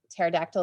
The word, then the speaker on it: pterodactyl: stuff makes sense and pterodactyl is not a weird word with a silent p it actually makes sense because it has this connection of meaning so kind of stepping